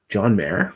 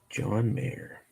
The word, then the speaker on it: Mayer: And his second name starts with an M and rhymes with Slayer. John Mayer?